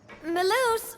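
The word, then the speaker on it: Melus: Maloose, we're back! That's how you say it again. Maloose.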